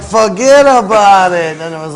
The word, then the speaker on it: Fuhgeddaboutit: So now, how's it phonetically? Forget about it.